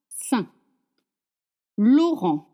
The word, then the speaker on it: Saint Laurent: I n makes the son like gulin sain sain Laurent Laurent makes the son makes the son. And we don't pronounce consonant saint Laurent.